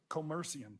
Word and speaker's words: Commercium: Co com how do you say it commercium commercium thank you Bank special purpose depository institution Charter